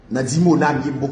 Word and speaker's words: Dimona: charg tout charg c'est tout songer dit noir Dimona déplacé qui diona dimona dimona écrit d i